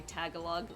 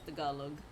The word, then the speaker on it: Tagalog: Like, some people will say Tagalog. And I'm like, "No, it's the Galug."